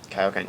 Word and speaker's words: Kaioken: Did I pronounce that right? Kaioken, yes.